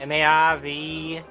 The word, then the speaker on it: Marv: name's spelled with two M's? No, just the one. One M. Marv. M-A-R-V.